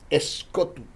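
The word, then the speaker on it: σκοτόω: El término entenebrecida que se utilizó en el texto sagrado es del griego escotu. Se escribe S-K-O-T-O-O.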